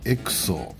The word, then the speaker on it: EXO: オデッセイのエクソと読みます。